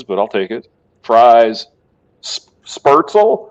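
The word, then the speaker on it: Spätzle: Fries, Spertzel. How do you say that? Spatzel.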